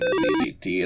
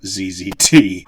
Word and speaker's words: ZZT: of the Jungle, although he pronounced it ZZT instead of ZZT, which was pretty funny every single time he did it.